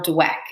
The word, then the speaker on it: Dweck: person who came up with this is Carol dweck and it's spelled d-w-e-c-k if you want to look her